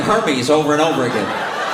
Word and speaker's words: Hermès: It's pronounced Hermès.